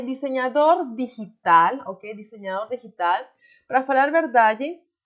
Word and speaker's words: digital: também pode falar desenhador digital e está super ok. Lembrando mais uma vez a pronunciação da G em espanhol, que não se fala de digital, não, é digital.